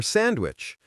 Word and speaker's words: sandwich: Or sandwich. Most native speakers do not say the D in sandwich.